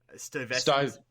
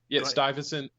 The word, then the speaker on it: Stuyvesant: He grew up in the I'm going to butcher the pronunciation probably, but the Bedford Stuyvesant. Stuyvesant.